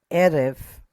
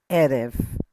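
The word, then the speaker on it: עֶרֶב: Erev. Erev. Okay. Emphasis is right here. So Erev.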